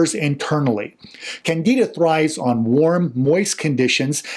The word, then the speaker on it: Candida: more specifically a yeast such as candida or candida some people call it candida is another way it's pronounced you can only tell